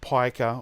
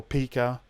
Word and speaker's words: pica: It's called pica or pica, depends on how you pronounce it.